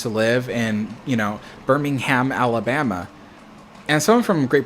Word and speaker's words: Birmingham: my sister used to live in, you know, Birmingham, Alabama. And someone from Great Britain was like, it's Birmingham. And I'm like, it's Birmingham if you're in the UK and you're in Birmingham.